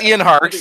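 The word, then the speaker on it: Ian Harkes: name we just keep talking around no it's Ian harks and um no and my question is because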